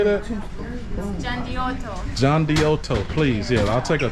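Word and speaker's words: Gianduiotto: John Diotto, please. Yeah, I'll take a chocolate cone. Now and it depends with your accent. let me see that again. You know your country. Gian de Tolo.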